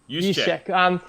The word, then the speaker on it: Juszczyk: And is it Jusic? The fullback, Juszczyk, right? I think it's pronounced with a Y. Anyway, Juszczyk, who's a great blocking fullback who missed part of the season.